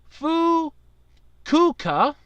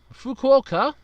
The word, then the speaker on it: Fukuoka: to go from Osaka to how am i mispronounce this again I know it if you want to go from Osaka to fool cuca Fukuoka check out the Hello Kitty bullet train we'll